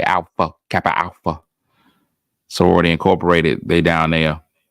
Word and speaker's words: Alpha Kappa Alpha: You got to say each of the 6 syllables the same way. Alpha Kappa Alpha.